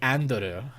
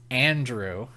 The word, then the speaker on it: Andrew: I'm rambling but like if a Japanese person pronounced my name it'd be andu you know like they'd say it that way because that's how they they enunciate but then I'd be like no it's Andrew now they're be Andrew